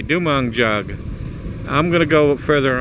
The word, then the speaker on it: Dumanjug: dong jug I think dong jug is how they pronounce it well I'm going to